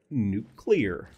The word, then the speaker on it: nuclear: It's pronounced nuclear. Nuclear. Nuclear. Nuclear. Nuclear. Because it has to do with the nucleus.